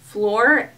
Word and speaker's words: Fleur: And I believe this one is spelled, or sorry, it's pronounced Fleur, F-L-E-U-R.